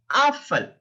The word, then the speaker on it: Apfel: It's pronounced like Apfel, Apfel, Apfel, a. It's not O, it's a in German, a, Apfel.